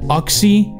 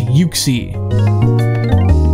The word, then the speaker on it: Uxie: If anybody pronounces it Uxie, I want to punch you in the face. It's Uxie.